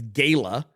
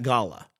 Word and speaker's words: gala: some people pronounce as Gayla and I was saying Met Gala and I I looked it up you can pronounce it either way and most people pronounce it Gala so get out of